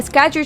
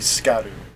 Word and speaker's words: Scadu: tree SC scad a scadu tree fragment and so uh it's uh Old English for shadow and that's how it's uh pronounced in old old English Shadow I guess modern would probably be scat anything else that might